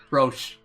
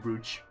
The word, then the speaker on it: Brooch: Broche. There we go, Broche. That's how Chrono told me it's pronounced. It's gonna be hard for me to break that habit of calling it Brooch.